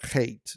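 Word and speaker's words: Heth: The way that this works for us is to understand this word chet, or hate is a better way of pronouncing it.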